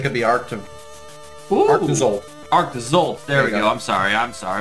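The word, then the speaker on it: Arctozolt: Arctizolt, there we go.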